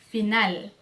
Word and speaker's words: final: Por exemplo, ó, final, final. Tá vendo que é como se fosse um L, porque é um L mesmo, a gente pronuncia como U? Então, você vai pronunciar como L, não como U.